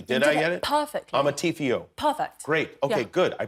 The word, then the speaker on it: Amarteifio: I hope I pronounced your name correctly. Did I get it? Perfectly. Amarteifio.